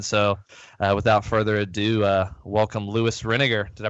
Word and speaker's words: Lewis Renegar: So without further ado, welcome Louis Renegar. Did I pronounce that right?